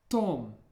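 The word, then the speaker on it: Том: Remember to watch your pronunciation of the O, however. In English, it's pronounced more like an A sound, Tom. But in Russian, Tom.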